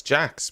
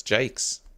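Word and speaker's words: Jacques: conversation about it so I thought his name was Alex Jax but it's Alex Jake getting his name wrong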